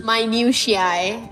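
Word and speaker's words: minutiae: hey Google oh it's pronounced my new shiai it's small precise or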